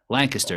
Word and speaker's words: Lancaster: Lancaster is how you say it.